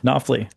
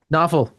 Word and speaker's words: Knopfel: Am I saying it right? Knopfler. Knopfler? Knopfel. He corrected me.